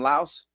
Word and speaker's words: Laos: They don't pronounce the S.